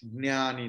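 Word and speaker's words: ज्ञानी: Priyo hij jnani no, because jna is conjunct consonant, so ja will be pronounced twice.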